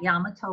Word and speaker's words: Yamato: community at yamato and yes that's how they pronounced it located west of what is the dixie highway at yamato road and the african-american community at pearl city